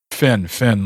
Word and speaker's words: Finn: Finn, like a dolphin fin.